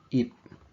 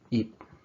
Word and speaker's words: 잎: The 피읍 받침 has a P sound at the end. So for example, E plus 피읍 would be 잎.